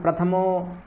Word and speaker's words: प्रथमो: आपको एक अक्षर का जो बारीक उच्चारण करना आना चाहिए। ठीक है। प्रथमो और प्रथमो दोनों में अंतर है। थकार का पूर्ण उच्चारण करना है, अधूरा नहीं।